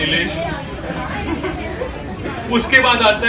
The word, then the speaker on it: इलेश: सबसे पहले तो इलेश बोला, नहीं इलेश, एलेश नहीं इलेश।